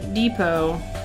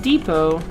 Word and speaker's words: depot: In French, the T at the end of the words are silent.